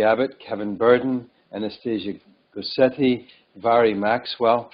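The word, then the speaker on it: Mhairi: Kevin Burton Anastasia goetti Vari Maxwell I just learned that MH is pronounced in GAC as uh V I didn't actually know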